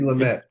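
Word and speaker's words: Lumet: And which Sydney Lumere films or Lummet I don't know how you pronounce it properly. Um, Sydney Lamett.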